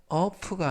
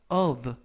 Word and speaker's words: of: 이때 유의하실 것은 F 발음이 V 발음이 납니다. 그래서 of가 아니라 of 라고 발음하시면 되겠고요.